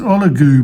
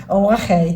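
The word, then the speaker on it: Ollagüe: Oh, I don't know, it's Oligoo, but it's not. Oahe. That's it, Oahe. It's spelled Oligoo.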